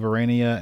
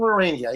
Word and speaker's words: Aurania: about the Manual of Aurania and your... am I saying that right? Yes, you are saying it right. Awesome. You pronounced it correctly. The last guy didn't pronounce it correctly. Manual of Aurania, yes.